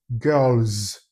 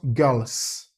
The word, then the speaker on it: girls: So when you add the S to it, what you should pronounce should be girls, not girls.